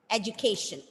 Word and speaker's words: education: with 4 syllables, and as per the rule of pronunciation, whenever a word ends with T-I-O-N, the stress should be given on the penultimate syllable, second last. So how will you read that word, Aditi? Education, exactly, education.